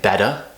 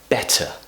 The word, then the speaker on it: better: So we don't say better, we say better.